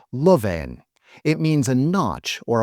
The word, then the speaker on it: loveen: Lovveen is the word in dialect. In traditional Finnish, it would be pronounced loveen.